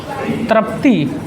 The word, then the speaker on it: तृप्ति: तृप्ति नहीं, वो ठीक है, पर मैं नाम मुझे लग रहा गलत प्रोनाउंस किया इसलिए। TRAPTI है, तृप्ति।